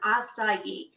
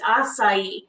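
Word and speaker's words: açaí: going to be on aaii which I have to say I don't think I pronounced that right till maybe like like a year ago or so but it's assai so that actually brings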